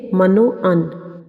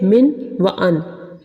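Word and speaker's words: من و عن: نظر آ رہا ہے۔ بہت سے لوگ اس لفظ کو پڑھتے ہیں من و ان، لیکن یہ صحیح لفظ ہے من و ان۔ اگر ہم اسے جملے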